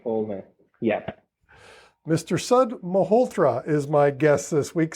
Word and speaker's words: Malhotra: say his last name sud welcome so s mahotra that's that's my c yeah yeah Mr sud multra is my guest this week sud welcome thank